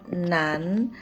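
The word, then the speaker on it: 男: Ini dibacanya nan, artinya laki-laki. Ini sama persis dibacanya nan dalam pronouns bahasa Indonesia. Nan, nan, nan gitu.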